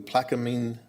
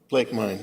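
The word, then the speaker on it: Plaquemine: all right good enough how do you say it quicker Blake mine plake mine okay that's how it is um Louisiana um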